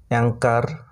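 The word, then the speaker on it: anchor: তারপর এ এন সি এইচ ও আর, অ্যাঙ্কার, এখানেও কিন্তু সির উচ্চারণ হচ্ছে, এইচের উচ্চারণ হচ্ছে না, অ্যাঙ্কার এটার উচ্চারণ।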